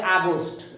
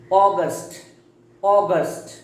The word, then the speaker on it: August: ওকে, নাও next June, একটু শক্ত করে, জুন, জুলাই, দেন অগস্ট, অনেকে বলে আগস্ট, it's wrong, the correct pronunciation is অগস্ট, then September.